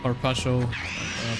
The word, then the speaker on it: carpaccio: And I had a carpaccio pizza. That's not how you pronounce it. They're gonna fucking kill me. Carpaccio. There you go. Probably still not perfect.